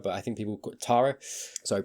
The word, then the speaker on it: Tara: We had, you know, was it is it I want to say Terra, but I think people Tara, sorry, pronunciation came back in, said what she said.